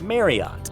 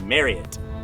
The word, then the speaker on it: Marriott: starts with an M, everybody, including us, has always thought for decades that it was pronounced Marriott. Is that how you'd pronounce it? If so, you'd be wrong. It's Marriott. Well, actually, did you know